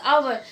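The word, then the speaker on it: hour: h is not pronounced as hover it is pronounced as our which is a vowel sun so we have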